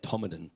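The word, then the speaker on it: Todmorden: Took me a long time to learn, or to be shown how to say Tomadan. It's pronounced or spelt Todd Morden, of course.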